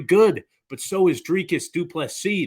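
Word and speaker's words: du Plessis: but so is dreikas duplex C the S is silent and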